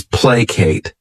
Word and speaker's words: placate: The next verb is placate. This word has 2 syllables, and the stress is on that first syllable.